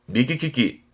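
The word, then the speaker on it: 右利き: 용하는 손이 오른 손이다 해서 오른손 잡이를 말합니다 발음은 미기 키키 미기 키키처럼 오른손 잡이는 요렇게 쓰게 되겠네요 그럼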